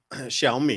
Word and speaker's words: Xiaomi: Xiaomi is the way you would pronounce that company name. Xiao is Shiao and Mi is me.